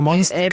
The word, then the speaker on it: Monstcast: Yo siempre digo Monstcast. Empieza la palabra monstruo, Claro. corta y va cast.